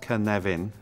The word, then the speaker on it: Cynefin: uh this is the canavan framework uh pronounced Kavin and for those of you who don't speak Welsh uh the origin of